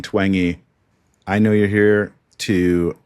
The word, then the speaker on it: Twenge: Jean Twenge. But what I've learned from you uh early on is that is not how you say it, Dr. Jean Twengey.